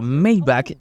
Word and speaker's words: Maybach: Mayback y sí, esa es la pronunciación correcta.